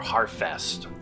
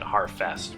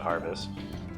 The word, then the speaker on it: Harfest: Or harfest. I should really be pronouncing it harfest, but for some reason I just want to pronounce it harvest.